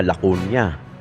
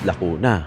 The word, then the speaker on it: Lacuna: isa nga yung babae sabi niya lakon niya eh ang pronunciation non is Lako na o doon pa lang Sablay ka na paano maniniwala SAO yung